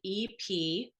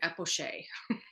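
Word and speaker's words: epoché: thing called it's spelled EPOCHE. And I was pronouncing it epoch for 3 years probably with my advisor, with my chair, and with my committee, and nobody corrected me.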